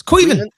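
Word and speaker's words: Caoimhin: It's Cuiven. Is that how you say it? Yeah. Cuiven? Oh, yeah, okay. it's just not spelled that way. It's just not spelled that way, is it?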